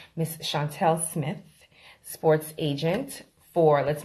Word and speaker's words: Chauntiel: Chauntiel, like the color teal.